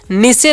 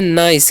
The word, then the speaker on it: NICE: क्या लिखा हुआ है जी, निसे नहीं पढ़ना है। ठीक है, एन का उच्चारण कर देंगे न, तो एन का उच्चारण न करना, आई का उच्चारण आई, तो हो गया नाई। और ठीक है, और सी जब भी रहता है उसका उच्चारण स करना है, तो इसे हम पढ़ते हैं नाइस।